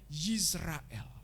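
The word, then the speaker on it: ישראל: Israel itu kalau dalam aksara Ibraninya bacanya Yisrael, pakai Yod depannya.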